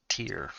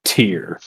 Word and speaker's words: Tare: was sent here to find tare pronounced tear him i was sent here to find tear where is she last